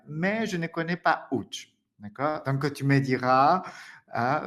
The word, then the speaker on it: Łódź: Łódź, très exotique prononciation. Łódź.